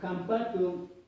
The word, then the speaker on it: hampatu: reemplazaba la H pero la pronunciación suena jatu no suena con la H como está escrito ahí sino con la J podría decir vamos a